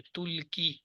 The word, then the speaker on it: تلقی: وہ عورت ڈالتی ہے۔ یہی اس کا تلفظ ہے، کیونکہ یہ جو ہے یا جو ہے یہ ساکن ہے، تو یہ کاف کی زیر پڑی جا رہی ہے، تل کی، یا تو ساکن ہو گئی، ال کی یہ کاف کی زیر